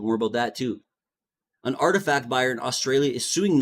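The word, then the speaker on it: RTFKT: rug pull via its subsidiary Artifact, pronounced Artifact, which it acquired in late 2021.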